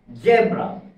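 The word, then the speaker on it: zebra: যেমন আমি একটা ওয়ার্ড লিখি, এই যে এই ওয়ার্ডটা, এটাকে যদি আপনি ব্রিটিশ প্রনাউন্সিয়েশনে উচ্চারণ করেন তাহলে এর উচ্চারণ হবে জেব্রা, জেব্রা।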